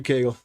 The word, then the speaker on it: Kegel: Now, is it supposed to be like the exercises? No, that's Kegel. Spelled a little different.